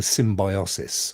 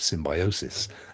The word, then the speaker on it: symbiosis: it's like it's like a symbiosis or a symbiosis as you should correctly pronounce it um i think we'll